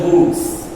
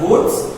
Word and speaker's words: Wurtz: Many people may pronounce it as Wurtz. You may pronounce it as Wurtz or you may pronounce it as Wurtz.